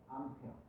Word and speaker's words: 암페어: 기억해야 되 전류의 단위는 a 쓰고 A고 읽으면 안 되고요 뭐라고 읽 읽어야 되냐면 페어라고 읽어야 돼 암페어 너희들 찍어 다니 뭐라고